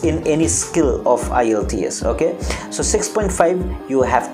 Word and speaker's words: IELTS: hair we have to say is that is IELTS not I l.e.d.s I let's know Isles okay the Kurt thing